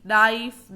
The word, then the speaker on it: knife: जैसे D, knife, not, no. इसमें क्या silent है? K.